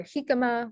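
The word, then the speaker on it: jícama: examples of this are jicama where the j sound makes a the j letter makes the ha sound uh junta where the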